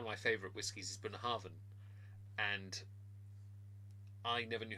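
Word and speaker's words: Bunnahabhain: actually like one of my favorite whiskies is Bunah Haraven and I never knew how to pronounce it until I looked it up one day and until then me and David would laugh and we just say bunaben because we thought it's hilarious.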